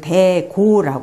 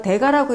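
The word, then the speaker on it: 大家: 불렸습니다 훌륭한 어르신이라는 뜻이죠 그게 큰 대자에 집 가짜니까 이거 대가라고 읽어야 되는 거 아닙니까 하는데 이게 집가 일반적으로는 집 가짜지만 여기서 훌륭한 어르신이라고 할 때는 그 저 여자 옆에 고자를 쓰는 그 고하고 같은 의미를 가집니다 그래서 대고 부르죠 예 그러니까 어 여성들의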